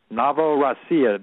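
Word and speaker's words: Novorossiya: in the news and it's called navoo Ria that's spelled n o v r o SS i y a navoo rasia Doug we've talked about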